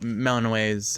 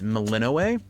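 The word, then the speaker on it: Melinoë: It's Melinoay, but I want to call her Melanino, but like everyone in the game says Meloay, so I have to train myself to do that.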